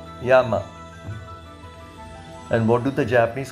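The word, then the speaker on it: 山: in the language yama spelt y e m a and pronounced yama and what do the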